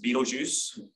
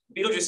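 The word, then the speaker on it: Betelgeuse: it's pronounced but um told by Tim Burton it's pronounced Beetlejuice um so I'll use the received Tim Burton pronunciation um Beetlejuice is a variable star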